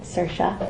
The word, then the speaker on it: Saoirse: The chemistry between you and Saoirse, I said it right, it's very powerful.